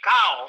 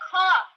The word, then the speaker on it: cough: Well, I know it can't be cow. It's cough.